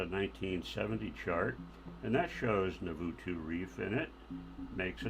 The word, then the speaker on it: Navatu: That has Navutu Reef. Navatu. I'm being corrected on my pronunciation here, which is often happens here.